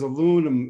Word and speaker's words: aluminum: Well, yeah, because aluminum is the third most abundant element. Aluminium, It says aluminum. aluminium. Yeah, I could say it American. Aluminum.